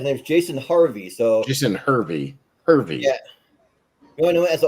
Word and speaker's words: Hervey: Jason Hervey, yeah, it's H-E-R, Hervey, yeah, Jason Hervey.